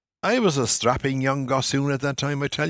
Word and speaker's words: gossoon: Interesting word there, gossoon, Gossoon. The Irish word for a country boy basically is garsoon. It's spelt in Gaelic Garsu with an accent N. And it's basically the same as garçon, the French for boy.